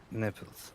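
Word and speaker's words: Nephels: How do you spell that? N-E. N-E. P-H. B-H. E-L-S. E-L-S. Neffels.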